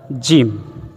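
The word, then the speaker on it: جيم: সা এরপরে আসি আমরা জিম জিম খুব শক্তভাবে আমরা উচ্চারণ করব জিম ছয় নাম্বার মাখরা এর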